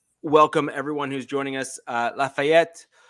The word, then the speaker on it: Lafayette: Lafayette, yes, I did pronounce that with a French accent. That's ETTE, which is typically French, so just deal with it.